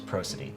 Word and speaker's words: prosody: So the way I've always sort of pronounced it is prosody.